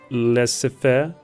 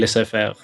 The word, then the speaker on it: laissez-faire: a booming industry, because liberals usually have the laissez-faire. How do you pronounce it? The trade policy. Yeah, the thing. Laissez-faire.